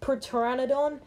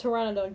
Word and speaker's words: Pteranodon: gets tamed let me just say it's not pronounced per Pteranodon it's pronounced Pteranodon just for the people the P sound okay